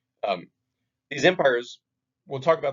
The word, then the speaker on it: Qin: So Qin is pronounced Qin.